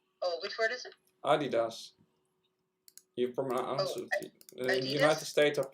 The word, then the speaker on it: Adidas: second what's going on adidas which they call adidas in germany americanized the pronunciation that's i did not